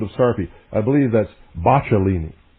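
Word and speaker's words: Boccalini: I believe that's Bachelini. I believe that's the correct pronunciation.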